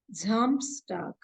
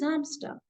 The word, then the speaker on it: Samstag: For Saturday, it is Samstag. S-A-M-S-T-H. T-H is again the same thing. So it is Samstag.